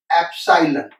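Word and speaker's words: epsilon: ये जो नोटेशन है इसको हम प्रोनाउंस करते हैं एप्सिलॉन।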